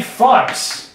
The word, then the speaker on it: Fuchs: I've been saying fucks.